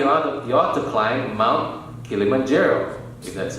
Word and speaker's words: Kilimanjaro: before you die on your to climb Mount Kilimanjaro that's how to pronounce it or walk the Golden State Bridge